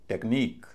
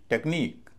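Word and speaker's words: technique: आई क्यू यू ई तो इसमें जो आई है उस पर स्ट्रेस होगा उसको बोला जाएगा ई और पूरे शब्द का उच्चारण होगा टेक्निक टेक्निक टेक्निक और अंत में ई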